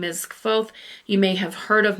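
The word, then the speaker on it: Kvothe: Now, I've heard some people pronounce his name in different ways. Some people say Qu. Um it is spelled K V O T H E.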